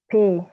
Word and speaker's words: P: next one is letter letterp pronounced as pay pay exactly exactly so if you just remember the fact that you have to pay for for for for your rent or something or pay